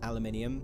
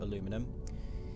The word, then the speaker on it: aluminium: next episode go finding some uh aluminium not aluminum because I'm British and therefore I will say it properly yeah actually the the